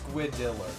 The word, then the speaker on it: Squiddler: So, oddly enough, it's Squiddler, not... I keep mispronouncing their name, but they spelled Squiddler instead. Squiddler. Kind of like the Riddler, but with squid in front of it.